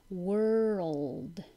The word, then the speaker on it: world: everybody says correctly 31 is always difficult world so but by your time your tongue goes from the R to the L it takes time and keep your voice on world world 32 entrepreneur entrepreneur